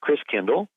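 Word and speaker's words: Christkindl: the Christ child and the German pronunciation of Christ child is Chris Kindle Chris meaning Christ came to like KinderCare kindergarten each child so Chris Kindle ends up being pronounced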